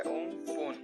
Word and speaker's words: Amphan: तो cyclone एम्फन जो अभी फिलहाल आया हुआ है हमारे भारत में, वो प्रोनाउंस किया जाता है उम्पुन, जो कि लैंडफॉल करेगा।